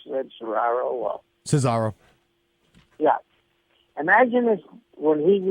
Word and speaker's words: Cesaro: His partner, how do you pronounce it? Cesaro.